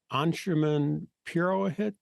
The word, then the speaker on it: Anshuman Purohit: over the world today I'll be visiting with anshuman purohit did I pronounce that correctly your name perfectly did I